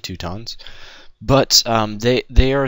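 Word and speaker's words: Teutons: and I'm playing as the tuttons or the tuttons some people like to pronounce them that even though I'm pretty sure it's the two tons but um they they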